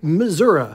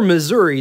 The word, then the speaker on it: Missouri: July 1894 in Warrensburg Missouri or Missouri depending on where you're from and how you pronounce it even as a young